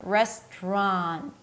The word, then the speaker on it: restaurant: And then you round your lips again and lift the tongue up for another R. Restaurant. And then again, we have an N sound. So lift the tongue up for the N. Restaurant. Mm-mm. And then you stop it immediately with another T. Ron. Ron. Listen to the difference between just an N and an N that is stopped with the T sound.